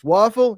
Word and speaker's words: Wafle: It's Wafle.